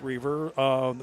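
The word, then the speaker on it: Reiver: Looks like River, it's pronounced Reaver, but it's looks like River, but it's Reaver, with wins over Indian Hills and Butler.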